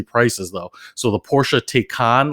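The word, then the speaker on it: Taycan: though so the Porsche take on let's call take on even though it looks like it's spelt a can looks gorgeous it that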